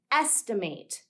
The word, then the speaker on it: estimate: word is a noun we don't pronounce it as eight like we do in estimate instead we're going to